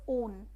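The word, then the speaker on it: -one: last 3 letters हैं ONE, that is pronounced as own, okay, not one pronounce नहीं करना, उसको own pronounce करना है, क्योंकि वो जब नाम में attach हो जाता है तो वो own की तरह उसका आपको एक phonics मिलेगा, own की तरह वो sound करेगा, तो इसीलिए आप उसको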